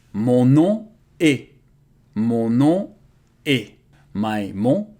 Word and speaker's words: mon nom: It's funny because in French, O and N and O and M are pronounced exactly the same way. Mon nom.